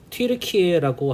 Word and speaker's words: 튀르키예: 그러니까 튀르키예라고 한다라고. 예. 예, 재밌네요. 학생들과 나눌 때 이 얘기도 해주시면 좋을 것 같습니다. 터키. 근데 국제적으로 자기들의 그런 발음을 따서 튀르키예라고 부르기로 했다.